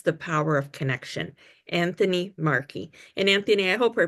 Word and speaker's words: Markey: who truly understands the power of connection, Anthony Marky. And Anthony, I hope I pronounced your last name correctly.